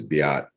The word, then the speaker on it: Beat: Beat my interview that I did with is actually, his name is Biat, but it's spelled beat.